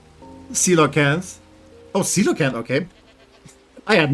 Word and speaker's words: Coelacanth: For a super long time we thought Coelacanth, pronounced Coelacanth.